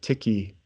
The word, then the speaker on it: tiki: hat okay and so Tiki or tikki if you're from New Zealand you actually pronounce it tikki usually in the United